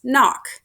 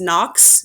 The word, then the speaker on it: Nock: feature to use so my name is pronounced miss knock a lot of people call me miss knox it does not have an s on the end so it's just n-o-c-k and let's go ahead